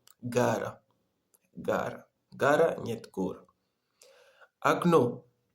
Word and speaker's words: окно: Окно. Окно в начале слова это О нет ударений. Мы читаем как А. И в конце слова О ударение, мы читаем О. И вот это окно, нет окно. Вот мы читаем окно, в языке французский это фенêtre.